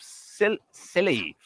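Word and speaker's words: Scilly: No, it is it's the it's pronounced silly.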